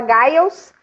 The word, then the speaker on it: Giles: ó, tem gente que fala Gils, tem gente que fala Giles, e a gente perguntou para ele, ele falou como vocês preferirem.